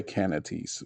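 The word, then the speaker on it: canities: what ringworm yep um you don't say it can't canatees it's can it's got a weird uh weird pronunciation to it but we're gonna say canatees which is the technical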